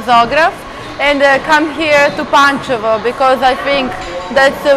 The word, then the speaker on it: Pančevo: Pančevo. Pančevo.